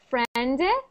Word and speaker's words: friend: you were saying it you were saying like a little sound after like friend friend but we just say it like friend and it ends at the friend try that good so